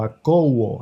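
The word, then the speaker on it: ἀκούω: Aquí en Mateo 13, oíd es la palabra griega akuo o akouo, así se escribe con K de kilómetro, akouo, que significa lo mismo que Shama, oír.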